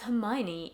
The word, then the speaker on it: Hermione: And then I remember saying it to someone and they were like, it's Hermione, idiot. Or like my older sister was like, it's Hermione. And I'm like, what? Why? It's spelled Hermione.